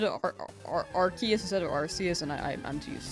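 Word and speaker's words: Arceus: Arus over Archus. I I still say Arus.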